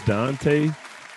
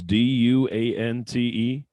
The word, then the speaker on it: Duante: sorry how y'all uh my name is dante uh but it's spelled all up though it's d-u-a-n-t-e so i get everything from like duante to dwant i've even got dwayne before like the t silent and [